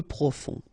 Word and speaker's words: profond: Peu profond. Final D not pronounced. Peu profond.